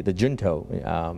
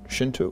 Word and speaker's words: Junto: who come together, have their own Shinto, is that how it's pronounced? Junto. Junto. Junto, yeah.